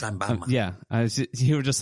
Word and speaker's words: Sheinbaum: So Mexican President Claudia Sheinbaum, very Mexican name. Wow, that was racist of you. That's a very Mexican name. It's pronounced Sheinbaum.